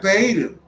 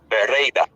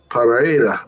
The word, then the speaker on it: Pereira: Paida. All right, the sensei has sent me the correct pronunciation. Pereira. Y'all hear that? Pereira. That's what I said. Pereira.